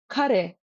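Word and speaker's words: ཀ་རེ: Kare means what? Kare. And that is ka, that mid flutter, ka in kare.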